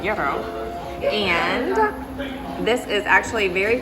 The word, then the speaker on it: gyro: So it is not a gyro, it is a gyro.